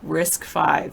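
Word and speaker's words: RISC-V: look at the windmills they're cool man oh risk five thank you for how to pronounce it Open Source Hardware instruction set architecture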